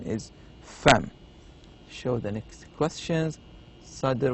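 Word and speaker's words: فم: It says no, it's not eyebrow, it is mouth, and the pronunciation is fem.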